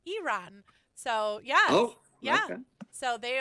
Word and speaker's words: Iran: actually have friends from it's actually pronounced Iran so yeah yeah so